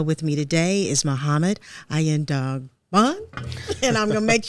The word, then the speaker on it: Aiyedogbon: It's pronounced I N Dogon. Okay, I N Dogon.